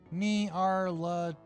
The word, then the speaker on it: Nyarlathotep: No official way to pronounce the name since it's made up nonsense word, but I prefer Nyarlathotep. Nyarlathotep.